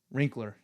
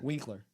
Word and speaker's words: Winkler: Wrinkler. Yeah, Winkler.